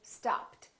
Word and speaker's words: stopped: at the second rule look at the word stopped it's not followed by a tea or addy